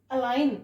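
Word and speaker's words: align: जी के रूल्स को जी is silent before N G silent है कहां पर बिफोर एन जो एन से पहले जी आएगा वो साइलेंट होगा फॉर एग्जांपल अलाइन अलाइन इसको जो एन से पहले जो जी आ रहा है वो साइलेंट है इसको एलज नहीं पढ़ेंगे क्या पढ़ेंगे अलाइन इसका प्रोनंसिएशन क्या करेंगे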